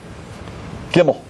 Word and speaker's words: Gimel: Is that good, Gimel? Yeah, that's great. Gimel. Gimel, if we spell it out, means what?